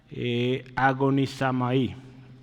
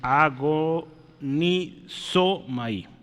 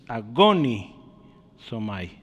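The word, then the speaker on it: ἀγωνίζομαι: Agonizamai. Perdón, agonizomai, ¿sí? El acento está en la I, ¿sí? Entonces, agonizomai, ¿sí? Agoniza. Ahí está difícil, ¿verdad? Es que está muy larga, pero es agonizomai, ¿sí?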